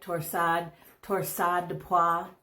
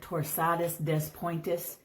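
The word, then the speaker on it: torsades de pointes: Torsade de pois, not to be confused with torsadus des pointus, if you come from Wisconsin and pronounce every letter you see in a word.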